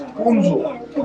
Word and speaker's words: Hunza: Hunza's actual accent, actual pronunciation, original name is Hunzo.